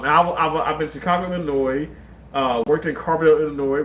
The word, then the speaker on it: Illinois: And I know how to say Illinois. Like, I know the S is not pronounced. Illinois.